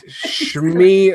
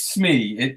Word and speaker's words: Shmi: It's Shmi, isn't it? It's spelled the way. It's spelled the way Dougie spelled it. SHMI.